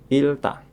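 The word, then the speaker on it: 잃다: Ada lagi kosakata yang mempunyai arti kehilangan. Dibacanya adalah ilta. Ilta.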